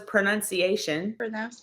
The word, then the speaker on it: pronunciation: The only word I heard was pronunciation. Pronunciation. Pronunciation. There's pronounce. So I pronounce the words. The noun is pronunciation.